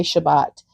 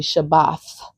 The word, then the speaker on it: Shabbat: Most people say Shabbat, but it's actually Shabath.